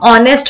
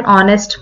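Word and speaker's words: honest: अब आपने देखा होगा हम ऑनेस्ट वर्ड बोलते हैं, आर बोलते हैं, ठीक है, तो उसमें जो हमारा एच है वो क्या रहता है, साइलेंट रहता है, म्यूट रहता है.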